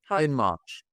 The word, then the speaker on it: Hindmarch: Hindmarch.